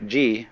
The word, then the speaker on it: ji: The word ji, which is Japanese way of pronouncing the Chinese chur, is the world of things and events.